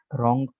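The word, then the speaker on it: wrong: Rule number 4 में कह रहे हैं कि W is silent in the following words. दरअसल अल्फाज में W साइलेंट है। अच्छा, ये अल्फाज देखें, W के बाद यहाँ आर, कायदा और कानून निकालें, W के साथ ये यहाँ तक, W के साथ आर है, ठीक है। तो डब्ल्यू के साथ आर मिले आपको, तो डब्ल्यू आमतौर पर साइलेंट होगा।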